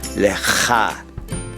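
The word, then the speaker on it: לך: would say, Toda Rabba Lecha. Toda Rabba Lecha. Look at the last word, Lecha, and you notice there's a little guttural sound at the end, Lecha.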